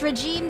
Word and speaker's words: regime: It's regime is pronounced regime, just so you know. Oh yeah, I got it mixed up with skincare regimen. Your Majesty?